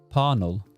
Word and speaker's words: Parnell: And yes, that's how I'll be pronouncing it. Parnell, like but was from a family of wealthy Protestant landowners.